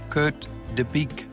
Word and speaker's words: Kurt De Bique: Welcome from Copenhagen in Denmark, Kurt Deique.